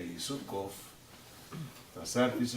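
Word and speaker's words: קוף: demais letras Tá certo quando você fala ela em hebraico é cof cof se escreve inicialmente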